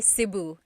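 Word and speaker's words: Cebu: seu or seu so technically in the the G alphabet the letter e can be pronounced e or E like the letter I so I say siuu and I know some people say seu but usually it's either SIU or sebu good question all right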